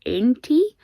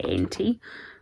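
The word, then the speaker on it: Aentee: And the pin set is designed by, I think it's pronounced Aentie. It's A-E-N-T-E-E. I'm going to say Aentie.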